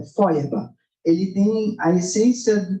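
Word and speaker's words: Feuerbach: já ouviram falar dele se escreve fe herbar ch FEB né mas o nome é é fba ele tem a essência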